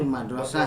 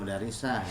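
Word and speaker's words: مدرسة: Berikutnya, Ana fil mudarrisati itu madrasah bukan mudarisah ya, ngebet dengan mudarisah ya.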